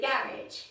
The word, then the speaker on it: garage: And this is the garage. Garage. You can say garage or garage. The two pronunciation.